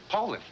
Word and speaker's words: Poulan: So, when you're looking for a tough, dependable chainsaw, look for a dealer that sells Poulan. Poulan. That's what I said, Poulan. You You said Poland?